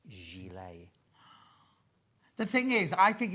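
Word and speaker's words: gilet: put me out in misery said it's not pronounced gillet it's pronounced Gile the thing is I think it's to the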